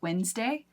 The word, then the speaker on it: Wednesday: It's kind of like our next word, Wednesday, is spelled Wednesday instead. And some accents around the world, they actually say Wednesday. But here in the States, most of us say Wednesday.